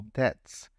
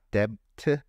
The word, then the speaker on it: debt: me point out that on the word debt that you should not be pronouncing the B if that's a silent B so not depth it is a debt so it is to